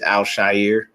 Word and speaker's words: Al-Shaair: And that is how you say his name, people. Is not Al-Shaair. I don't know why everybody keeps saying Al-Shaair. It's probably the easier way to pronounce it, but it is Al-Shaair.